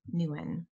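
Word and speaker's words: Nouwen: keep choosing it every day henry j m newen i think is how you pronounce his last name i love that but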